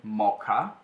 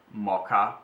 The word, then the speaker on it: moca: It's what we call mocha, and it's not the mocha coffee, the one coffee, chocolate and milk. It's mocha, and it's spelled with C, so it's spelled M-O-C-A, because in Italian we